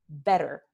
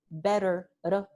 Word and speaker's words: better: like in the word better, right? B-E-T-T-E-R, the double T, better, better, or ladder, L-A-D-D-E-R, ladder. Better and ladder are both pronounced with this sound.